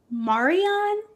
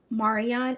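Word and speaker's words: Marion: Jack and Jill was founded by Marian. I'm pretty sure that's how you pronounce her name. Marian. M A R I O N. I can't really imagine saying it any other way. Marian, she was a black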